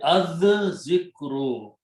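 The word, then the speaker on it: الذِّكْرُ: So it will be az zikru. Okay. So that is what it is written as this way. Lam is written, but it is not pronounced.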